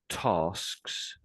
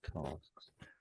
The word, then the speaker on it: tasks: That t it sounds a little bit like that word what you're saying. So I'm saying tasks.